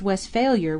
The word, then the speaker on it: Westphalia: It is pronounced Westphalier with the accent on the last part, where it belongs.